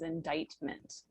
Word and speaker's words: indictment: So this word right here is pronounced as indictment.